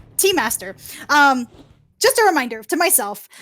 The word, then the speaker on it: T-Master: That being said, I have been pronouncing T-Master's name wrong. It is not Tuster. It is T-Master.